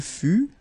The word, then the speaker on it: fut: Il fut, final T not pronounced.